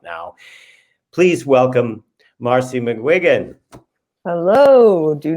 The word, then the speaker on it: McGuigan: Even in like people like saying my name to me, I'm like, no, it's not Maguire.